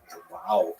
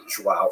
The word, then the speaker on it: João: Wow. I used to think it was wow, like when the baby was born, the mother would say, wow, it's a boy. But it's actually João.